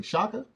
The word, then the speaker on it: Chaka: tonight's speaker maya please tell me if i pronounce this incorrectly shaka that is correct okay maya shaka is a